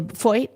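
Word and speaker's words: Feucht: I don't know if I said his last name correctly. Foyt. Yeah. Okay, I knew I was saying. I know. I used to say it wrong all the time. But it's like the weirdest spelling. How are you supposed to know? So what is it, Foyt? Foyt, yeah.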